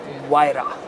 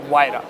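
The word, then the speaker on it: Huayra: been told by the company people that it's pronounced VRA wira so that's how you should remember it uh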